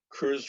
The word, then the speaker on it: Cruise: Cruise Road, am I pronouncing that correctly? Yes. Correct.